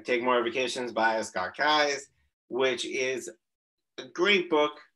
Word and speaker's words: Keyes: then again i've never asked him how to pronounce last name so erica asking him that um i now know it's kai's you learn something new every day it's got